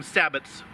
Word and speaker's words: sabot: There's like, I've heard like 5 different pronunciations for sabot, and sabots, sabots, sabo. You know, I mean, there's just a lot of. We just say sabot. It may not be right everywhere, but it's We